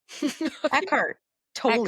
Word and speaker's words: Eckhart Tolle: By Yeah, how do you pronounce his name? Eckhart Tolle.